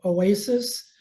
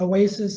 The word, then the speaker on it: Oasis: There's a little bar very close to there called Oasis. I sometimes might slip into the Spanish pronunciation because they call it Oasi, but it's Oasis in English.